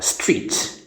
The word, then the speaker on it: street: وتأكد بأن تنطق كلها بمقطع واحد. ماكو شيء اسمه ستريد. شتريد انت شنو شتريد؟ ستريد. خلي واحد اسمها ست وهي اسمها ريد. وظيفتها ست واسمها ريد. Street. Street. كلها مقطع واحد.